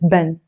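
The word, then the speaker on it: بن: In standard Arabic, they would pronounce it bun. In Lebanese, we pronounce it ben.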